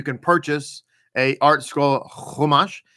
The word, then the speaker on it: Chumash: purchase a art scroll Chumash. It's spelled with a CH. When you see it, looks like Chumash if you are a Sephardic Jew, but it's in fact Chumash.